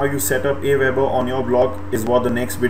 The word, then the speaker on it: AWeber: Some people pronounce this as Auber, but I think it's pronounced as AWeber because that's what most people pronounce it as.